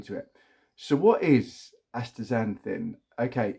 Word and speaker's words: astaxanthin: about this it's called astaxanthin and it's pronounced with a Zed they spelt with an X so Y as astaxanthin so a friend of